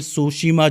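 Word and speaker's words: Tsushima: फिर आता है कोरिया जलसंध या फिर सोशिमा जलसंध। सो सुशीमा स्टेट भी कहते हैं इसको। इसमें भी टी साइलेंट है।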